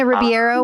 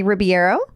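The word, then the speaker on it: Ribeiro: there savages were there christina riviero was there i think i'm sorry christina ribiero i think was there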